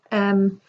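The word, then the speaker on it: ewe: page the previous page um there's a word on there you and it's spelt w e and so you pronounce that u but it doesn't mean like you it it means a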